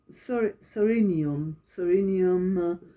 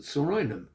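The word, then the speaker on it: Psorinum: Homeopathic remedy which may help would be Sorinium 30C. Interrupt you with the pronunciation. We might have to go over that again. I'd pronounce it Sorinum.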